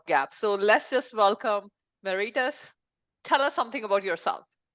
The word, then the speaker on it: Marites: Marites.